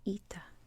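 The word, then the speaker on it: ήτα: so i'll just tell you right now it's ita it looks like this it's a little confusing if you know english because in english this is nothing like ita right and lower case it looks like this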